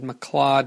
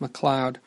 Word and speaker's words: McLeod: I might have mispronounced it and said McLeod just because of the way it's spelled. That's kind of how it looked, but I'm pretty sure it's pronounced McLeod.